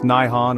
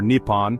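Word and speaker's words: 日本: Origin of the sun pronounced Nihon or Nippon depending on the context and level of formality.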